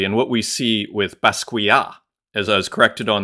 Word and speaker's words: Basquiat: Keith Herring actually and what we see with pasquia as I was corrected on the pronunciation the other day shout out to August uh and Basquiat who I like to call Bass quit maybe that's like the North American pronunciation uh